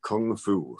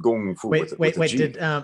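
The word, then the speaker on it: 功夫: use English words like Kung Fu, for example, which is spelled K-U-N-G-F-U, that's Wade Giles. The actual word in Chinese is pronounced Gong Fu.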